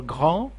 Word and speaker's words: grand: And also the same thing for grand. Grand, big and tall. It's a huge. Grand, it will be grande. Grand. These two consonants, you don't pronounce them.